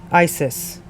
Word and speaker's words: ICIS: is not coincidental that their acronym is pronounced Isis icis was organized in